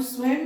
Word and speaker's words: स्वयं: भी प्रयोग करते हैं अब स्वयं में अनुस्वार ऊपर लगा हुआ है तो इसका उच्चारण म क्यों हुआ तो चकि संस्कृत के वर्ण विचार में यह नियम दिया है कि अगर शब्द के अंतिम वर्ण के ऊपर में अनुस्वार होगा तो उसका उच्चारण म होगा इसलिए स्वयं पढ़ते हैं तो हिंदी में भी